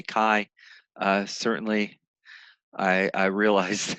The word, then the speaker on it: chi: chi square yeah uh it's pronounced with a hard k kai uh certainly i i